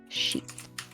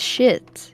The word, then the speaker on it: sheet: And I'm gonna knock that off my sheet. Gee. Holy shit. Very important to say sheet the English way, Mm. because in French it's just shit, you know. It's a sheet of paper, a shit of paper.